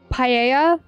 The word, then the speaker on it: paella: Paella. Not too sure about the pronunciation there, but I think double L is a yeah sound.